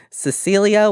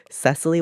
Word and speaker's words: Cecilee: It's always Cecilia. And it's actually Cecilee.